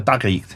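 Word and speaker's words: تاريخ: And then the last genre, the tarikh.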